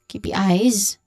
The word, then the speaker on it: KPI: So here um um pronunciation wise KPIs you you basically just say each letter KPI.